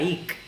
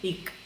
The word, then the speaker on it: hic: del verbo hacer es H-I-C, que se pronunciaría ic, ¿no? Siendo estrictos, ¿no? con la fonética del español, H-I-C se debe pronunciar ic, ¿no?